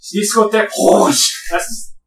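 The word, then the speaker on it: Discothèque Rouge: Discotheque Rouge!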